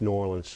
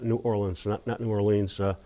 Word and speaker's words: New Orleans: By the way, it's pronounced New Orleans, not New Orleans.